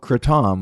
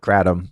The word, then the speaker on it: kratom: recently tried was called kratom, which is how they pronounce it in Thailand, but people here call it kratom. I dated a Thai girl. She was like, kratom? That's stupid. It's kratom. It's like, okay.